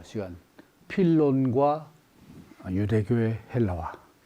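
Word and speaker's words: Φίλων: 더 어 진행될 예정입니다 어 필론이라고 부르기도 하고 또 필로라고도 부르기도 하는데에 원이 헬라식 이름은 필론이고 이제 로마식 라틴어로 필로 또 영어로 필로라고 하는데에 원 발음은 이제 필로니 되겠습니다 그서 필론 유대교의 헬라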